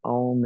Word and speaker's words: om: and the m so om is actually a u m and so we'll pronounce it that way today and I want